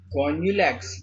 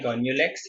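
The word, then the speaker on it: Gonyaulax: Some of them as गोन्यूलैक्स, इसको गोन्यूलैक्स ही पढ़ता हूँ, आप लोग कुछ और पढ़ सकते हो पढ़ लेना, मैं तो गोन्यूलैक्स पढ़ लेता हूँ, गोन्यूलैक्स पढ़ लेता हूँ, स्पेलिंग याद रखना वो इम्पोर्टेंट है।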